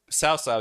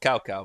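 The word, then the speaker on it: Cao Cao: Sao Sao used to be called Cow Cow because that's how it was written, and the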